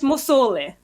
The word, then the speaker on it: Musolli: It's meant to be 2 L's, not 3 L's. But it's Musolli. Musolli, okay.